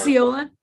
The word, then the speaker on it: Osceola: Osceola.